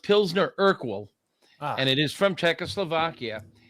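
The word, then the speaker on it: Pilsner Urquell: It's it's pronounced Pzner Urkwell and it is from Czechoslovakia.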